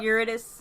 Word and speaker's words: Eurydice: What if, how do you pronounce Eurydice? Yeah. Eurydice.